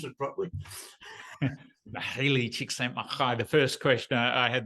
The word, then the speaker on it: Mihaly Csikszentmihalyi: Only bloke on the planet who can pronounce it properly. Mihaly Csikszentmihalyi.